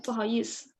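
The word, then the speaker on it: 不好意思: 不好意思 sir. Yeah, 不好意思 Mhm. without R.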